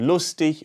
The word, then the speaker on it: lustig: the wrong one while the soft version with the sound at the end like in lustig or kreftik is the